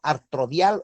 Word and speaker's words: artrodia: ¿Qué es un movimiento artrodial o qué es una artrodia? Entonces, artrodia se escribe A-R-T-R-O-D-I-A, artrodia.